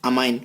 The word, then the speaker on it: ammine: तो ये क्या होता है, इसको हम क्या बोलते हैं, अमाइन। क्या बोलते हैं, अमाइन। अब ध्यान रही ये स्पेलिंग इसके लिए क्या होती है, गलत होती है।